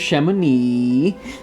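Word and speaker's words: Chamonix: doodling soon after we entered the valley of Shamone this Valley is more wonderful and Sublime but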